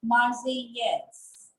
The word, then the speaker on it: Marseillaise: The name is La Marseillaise. Double L is again silent. La Marseillaise.